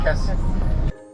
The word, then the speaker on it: Cassis: "It is written Cassis, but we pronounce it Cassie."